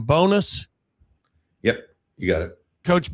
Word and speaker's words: Bowness: Do I pronounce his name Bowness?